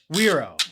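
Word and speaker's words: güiro: Wero. Wero. Okay. In most in most like Caribbean Spanish, you don't pronounce G's.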